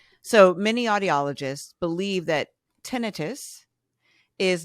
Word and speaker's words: tinnitus: It is spelled tinnitus. Yes. So if you look at it, the word is tinnitus. Yeah. But we're used to itis this and itis that. Yeah. And I don't think it's wrong to say tinnitus. I don't think that's wrong. Well, I found one site that said that tinnitus was the British pronunciation and tinnitus is how Americans have kind of bastardized it.